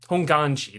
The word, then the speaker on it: Honganji: So they live in Ishiyama Honganji. There you go. Honganji is how you say it.